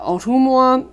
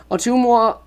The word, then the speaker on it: Ottumwa: Ottumwa. Let me get rid of that. Ottumwa.